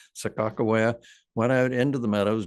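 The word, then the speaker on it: Sacagawea: saddles and Sakoa, well, we call her Saka Ja, but proper pronunciation, I think, Sakawa went out into the meadows, dug these bulbs, roasted them, and kept them from starving.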